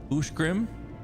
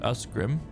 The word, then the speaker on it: Ushgrim: Ushgrim and not like Usgrim.